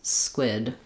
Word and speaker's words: squid: If that's the case for you, just try to hold your s sound longer with no voice. Not s, but s squid.